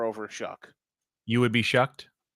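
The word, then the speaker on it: Shough: He's supposed to be, but they did draft Tyler Shuck. That's how you pronounce it.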